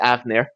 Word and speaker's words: Hafnir: Just for fun, we'll have the HB silent, so it's pronounced Avnir.